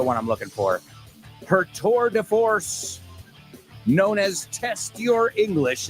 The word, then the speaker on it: tour de force: And hope you'll stay tuned, because my amiga Ximena Holiday is up next with her tour de force.